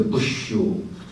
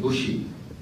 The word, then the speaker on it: Bush: I was going to ask why Japanese maintain or continue to pronounce President Bush as a Bushu instead of Bushi. Bushi is much nearer to English, you see.